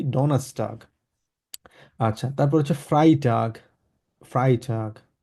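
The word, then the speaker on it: Donnerstag: তো আটটা এখানে উজ্জ্ব রেখে আমরা বলবো ডনাস্টাগ, ই থেকে আটটা উজ্জ্ব রেখে ইটা এস এর সাথে আমরা একসাথে করে ফেলবো।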